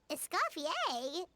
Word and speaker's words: Escofier: Find Escafier.